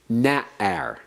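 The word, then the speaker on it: נַעַר: We have this likewise is accented on the first syllable. Na'ar.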